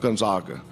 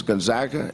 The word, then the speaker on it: Gonzaga: our neighbors it's and it's not Spokane and it's not Gonzaga it's Gonzaga and it's Spokane go ahead go ahead